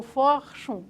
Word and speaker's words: Forschung: essa lógica alguma coisa que se pronunciaria em português como Forschung, S-C-H-U-N-G, tá?